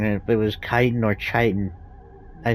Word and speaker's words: chitin: I was wondering how to pronounce chitin. I was right. It was chitin.